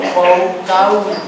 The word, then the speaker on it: Foucault: Michel, F-O-U-C-A-U-L-T, es como Foucault. Ahí está escrito en las hojitas, nada más que me equivoqué y en lugar de P debe decir O. No, Foucault, ¿no? Se pronuncia así.